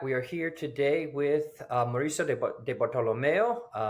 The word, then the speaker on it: Mauricio Di Bartolomeo: are here today with Mauricio de bartolomeo please correct me if I pronounced that wrong Mauricio that was pretty good okay little little gringo-ish but not too bad um Mauricio thank you